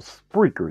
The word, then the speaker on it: Spreaker: So if you really want to hear this podcast, there is an app called Spreaker. That's spelled S-P-R-E-A-K-E-R. It's like speaker with an extra R in it.